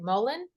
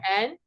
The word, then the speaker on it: mullein: Mullein, Oh yeah, Mullein.